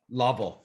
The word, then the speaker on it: Lovell: name and i'm thinking it's french so uh lovell okay see if if you were in canada that that's what they would say it would be lovell they totally would they totally would but so